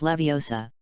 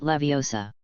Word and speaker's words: Leviosa: It's Leviosa, not Leviosa. You even pronounced the spell wrong.